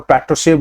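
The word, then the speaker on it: Patrushev: उनके counter part मतलब Russia के रिप्रेजेंटेटिव वहां पे जो निकोल प्रतस्वी हैं, सॉरी इसकी प्रोनाउंसिएशन आप देख लिया, तो पेट्रोसेव इनको बोलेंगे वैसे, निकोलाई पेट्रोसेव जो सेक्रेटरी ऑफ सिक्योरिटी हैं रशिया के, इनके साथ ये वार्तालाप हुई है।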